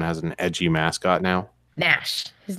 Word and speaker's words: Gnash: damn cat's name is Nash with a G. What the heck is ganache? The G is silent, like a real gangster.